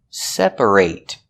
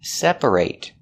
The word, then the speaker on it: separate: When it's not a verb, we pronounce it separate. Separate with the e- sound. Because when you say separate, the stress is on the first syllable only.